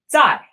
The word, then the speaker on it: 再: set is the character for again or another pronounced die die die now note that first we actually